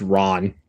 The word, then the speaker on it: Ran: I do want to watch uh Yojimbo, Sandreo, uh Throne of Blood, Rashimon, and then Ran as well. Authentically pronounced Ron.